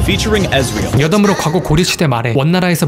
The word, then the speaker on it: Ezreal: 그리고 아트록스를 북미권에서는 에이트록스라고 부르듯이 이즈리얼도 영미권에서는 에즈리얼이라고 부르죠. 원문 발음도 원래는 에즈리얼입니다. Featuring Ezreal.